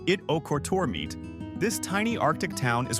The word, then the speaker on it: Ittoqqortoormiit: Pronounced It-O-Kortormiit, this tiny Arctic town is one of the most isolated settlements in Greenland and the world.